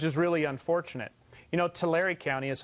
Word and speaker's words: Tulare: we took which is really unfortunate you know Tulare County is how it's pronounced actually but the Terri County we are